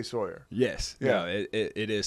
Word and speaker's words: Sawyer: say Sawyer mhm so what is the correct pronunciation it is it's Sawyer Sawyer Sawyer but a lot of people especially from the Northeast will say Sawyer I don't correct it